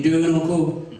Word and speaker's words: Derenoncourt: Derenoncourt in French, we call Derenoncourt. That's a French way, but the American people just call me.